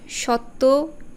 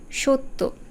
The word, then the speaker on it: সত্য: সেরকম তথ্য নয় তথ্য আবার সত্য এরকম না আসলে সঠিক উচ্চারণটা হচ্ছে সত্য আবার কল্যাণ নয় কল্যাণ